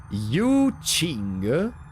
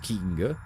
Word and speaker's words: Yu Qing: For information, the name is pronounced Yu Qing. Not King. Wait, really? The Q is pronounced Ch. Qing.